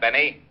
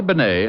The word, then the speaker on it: Bennet: It's pronounced Bennet, not Benny.